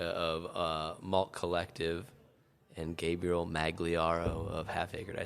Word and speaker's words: Magliaro: We're with Jacob Sembrano of Cruz Blanca, Matt Tanaka of Malt Collective, and Gabriel Magliaro of Half Acre.